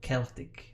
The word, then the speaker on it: Celtic: This American pronounced it with a K or hard C sound. Celtic, not Celtic.